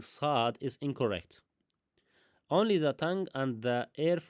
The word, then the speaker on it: ص: Now the articulation point, the articulation point I will say that the letter S is pronounced when the tip of the tongue touches the inner bottom of the lower front teeth and the air flows